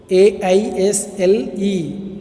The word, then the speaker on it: aisle: AISLE spelling இருந்தாலும் we pronounce it aisle.